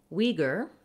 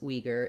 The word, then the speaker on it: Uyghur: So in English, the most common way that we pronounce Uyghur is with the Uyghur pronunciation, where we use the, for the letters UI, we say a W and an E sound, we.